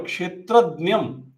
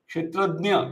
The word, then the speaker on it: Kṣetrajña: is the field knower, Kshetrajñam, Kshetrajña in North Indian Hindi pronunciation, or Kṣetrajña in Marathi inspired or Sanskrit pronunciation, Kshetrajña, iti tadvid.